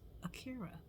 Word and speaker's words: Akira: so my name is Akira Akira a-k-i-r-a just like the anime uh and sometimes Some Humans can't pronounce that so I always say it's like Shakira without the sh and they're like I